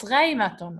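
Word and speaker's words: غيمةً: Ghay, because yeh. Ghay. Ma-ton. So it's ghaimaton, okay?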